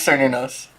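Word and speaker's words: Cernunnos: No, it is Sir Nunos.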